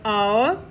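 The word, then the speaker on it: hour: Here H is silent. So what we are using in front of word our?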